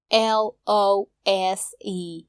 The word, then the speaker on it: lose: L-O-S-E र L-O-O-S-E लाई उच्चारण गर्दा तपाईहरू झुक्किन सक्नुहुन्छ। L-O-S-E लाई lose भनिन्छ र L-O-O-S-E लाई loose भनिन्छ।